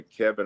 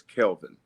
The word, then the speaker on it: Kelvin: name uh growing up a lot of people call me Kevin or Calvin my mother would always say his name is Kelvin and she was really